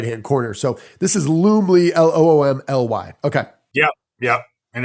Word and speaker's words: Loom: that for me yeah loomly l-o-o-m-l-y literally all right really easy to use okay well this is one of the platforms i've been pushing for is called loom l-o-o-m rhymes with zoom z-o-o-m but it's more